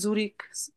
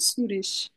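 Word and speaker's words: Zürich: সুরিস shed সুরিস হ্যাঁ সুইজারল্যান্ডের রাজধানী আমরা বাংলা বা ইংরেজিতে জুরি বলি তার মানে এটার উচ্চারণ সুরিষ এখানে কম এই এতক্ষণ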